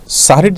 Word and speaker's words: সাহরি: রোজার জায়গায় সম বলা, এগুলোর মধ্যে শুদ্ধ অশুদ্ধের ব্যাপার নাই, কিন্তু সাহরির জায়গায় সেহরি বলা, এখানে ভুল এবং শুদ্ধের ব্যাপার আছে।